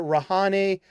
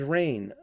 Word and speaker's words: Rahne: Is it Rahane? Is it Rain? Is it Ronnie? It's like, no, her name's Rain. Like Moon Unit Zappa, her name's Rain.